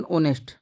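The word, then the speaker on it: honest: वहां पर लगेगा ए ये ऐसे बोलते हैं ऑनेस्ट ना कि नेस्ट ऑनेस्ट यहां प लगेगा अपना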